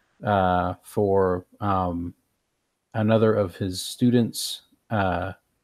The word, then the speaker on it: Jia: So I'm thinking that Peerless Falcon has passed me over for another of his students, Ja. I think that's how I pronounce it, or Jia. Ja, like JIA? Yes.